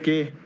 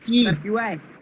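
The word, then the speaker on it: quay: হ্যাঁ, কে কে এটার কে কে হবে? এটার প্রনাউন্সিয়েশন হয় কি, কি কি, এটাই হবে প্রনাউন্সিয়েশন।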